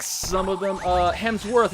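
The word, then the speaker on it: Hemsworth: some of them uh hems worth not hems F yeah okay yeah I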